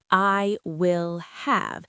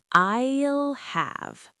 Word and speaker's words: I'll have: It's not I will have. It's one smooth sound. I'll have. I'll have.